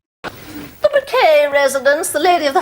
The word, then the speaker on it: Bucket: The Bouquet residence, the lady of the house speaking. On this pedestrian. BUCKET.